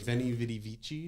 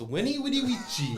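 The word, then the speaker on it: veni, vidi, vici: written I'd be like veni vidi vici yeah but in Latin these are pronounced W so it's Winnie Woody oh that's fun that's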